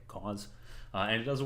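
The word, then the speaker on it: Coz: Um, and the example that we're going to talk about today is a profiler called cause. Um, spelled C O Z but pronounced like cause.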